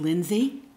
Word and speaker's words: Linse: My last name is pronounced Linse because my father was a native German speaker, and they were not allowed to use the German pronunciation of Linse because everybody would discriminate against them.